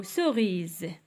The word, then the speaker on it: cerise: الشوميز و سوريز هنايا علاش نطقنا ز شوميز وهنا قلنا تاني سوريز عندنا اس ولكن نطقناها بز حيتاش عندنا اولا اس وحده وجات ما بين لي فويي لي فويي هما اي او الا كانت ما بين دو فويي كنطقوها بزيد ما كنطقوهاش باس داكوغ هاد المسألة هادي